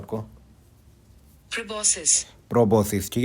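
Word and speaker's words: proboscis: प्रोबोसिस। प्रोबोसिस। ठीक है? इसकी प्रोनाउंसिएशन क्या है?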